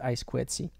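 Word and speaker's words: I²C: Let's quickly talk about I2C, or also written I squared C, and you can also even pronounce it I squared C.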